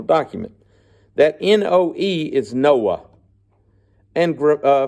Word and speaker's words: Noah: that no OE is Noah and uh phonetically you can pronounce it Noah okay we would say no unless you're from Mississippi and that's your last name then they all say Noy but no Noah but